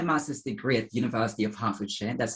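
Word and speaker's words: Hertfordshire: i did my master's degree at university of halfordshire that's how you say it by the way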